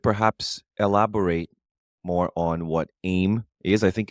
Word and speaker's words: AIM: acronym as a yes they say aim aim and in French a lot of people say IEM aim okay we'll go with